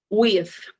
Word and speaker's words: with: A verdade é que ele é um som soprado. With.